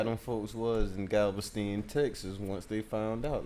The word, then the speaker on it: Galveston: I really wonder how them folks was in Galveston, Texas, once they found out.